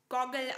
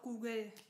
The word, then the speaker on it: Google: Und diese weltbekannte Marke wird auf Deutsch Goggle ausgesprochen. Ja, richtig, Goggle. Nein, Quatsch, Google kennt doch wirklich jeder. Und auch die Deutschen. Die sagen natürlich auch Google. Also wirklich, Leute.